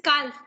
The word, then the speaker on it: calf: But L is silent, so we will pronounce it as calf.